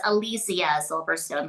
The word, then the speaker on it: Alicia Silverstone: Um, it's Alysia Silverstone, by the way. That's how it's pronounced.